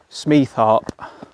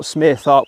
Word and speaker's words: Smeatharpe: Now I checked with some gentlemen when I parked up, actually, how do you pronounce this village, and it is actually Smeatharpe. So not Smeatharpe, which I was saying on the draw.